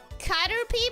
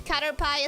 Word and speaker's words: Caterpie: It's Caterpie, by the way. The way the pronouncing it is, Cutterpie is kind of cute, too.